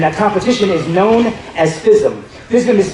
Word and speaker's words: FISM: a competition, and that competition is known as FISM. FISM is spelled F as in Frank, I-S-M, and it's a really high-level competition.